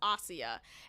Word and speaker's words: Asia: is oia is spelled like Asia but it's pronounced AIA and she's this European actress I really don't